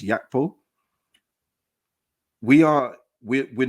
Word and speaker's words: Gakpo: So for me, I'm not going to speak about Cody Gakpo as of yet. But what I will say is that if we are looking at Cody Gakpo, or I think it's pronounced Yakpo, we are we're not